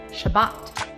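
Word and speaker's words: שבת: sabbath on is this word and it is pronounced shabbat shabbat became sabaton and sabaton became sabbath this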